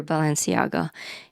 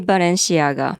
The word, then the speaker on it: Balenciaga: In America, I usually hear Balenciaga. And in Japan, we say Balenciaga.